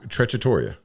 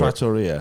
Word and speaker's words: trattoria: Let me give you Tortilla, which is, we had an argument about.